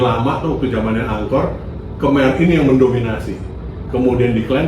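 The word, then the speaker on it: Khmer: Yang satu ya kemai kita ngomongnya kem bacanya kemai.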